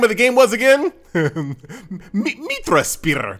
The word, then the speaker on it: Mitrasphere: the game was again mitra spire meet me you got to say it like that i promise it feels